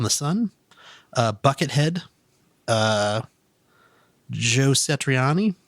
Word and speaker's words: Satriani: sun bucket head joe satriani i can never pronounce his last name sach Satriani huh I always say citrine ah me and I don't know